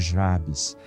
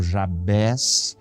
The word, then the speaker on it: Jabez: na área de comentários muita gente pronuncia a cabeça outras pessoas como eu pronunciam Jabes Eu já ouvi gente pregando falando Javé e a gente não precisa brigar por causa de pronúncia por causa de como se fala mas vamos ficar com Jabes tá bom E se